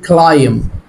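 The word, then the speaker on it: climb: البي سايلنت يعني ايه؟ كلايم.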